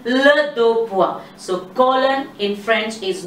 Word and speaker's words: point: In French, it is called as, or it sounds as point. You can see the pronunciation, le point, which means full stop of period in French.